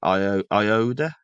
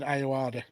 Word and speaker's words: Ayoade: a geeky way by Richard Iode. Is that how you say it? Richard Ayoade, Yeah, he's the guy from the IT crowd, isn't he?